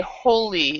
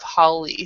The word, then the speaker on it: Holly: So a lot of people will say holy instead of Holly.